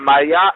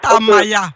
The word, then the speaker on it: Tamaya: D'abord, je souhaite relever un fait, c'est que Madame Maya, elle manque de courtoisie. Maya, s'il vous plaît, prononcez bien mon nom. Si vous voulez être courtois, commencez par apprendre à prononcer bien mon nom. C'est Tamaya.